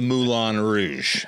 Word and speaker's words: Moulin Rouge: twice and still have I've been to the Moulin Rouge and that's how you say it but no